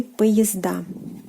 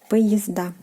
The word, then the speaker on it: поезда: The plural form will be поезда. Поезда. Again, A is stressed, поезд, поезда.